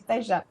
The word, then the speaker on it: Payshap: And by the way, I know you're struggling with the pronunciation. Payshap, right? Oh. That's what it is, Payshap.